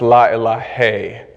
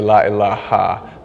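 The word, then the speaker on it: لا إله: It gets pronounced la ilahe. But often Arabic speakers will say la ilaha.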